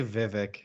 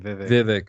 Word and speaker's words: Vivek: who are you just talking I can't even pronounce his name but I know just do say Vivek that's his first name Vivek okay is he a Democrat or Republican he's